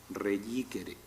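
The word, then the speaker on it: reicere: Esta palabra reyíquere, los romanos antiguos la pronunciaban con un cierto carácter fricativo, reyíquere.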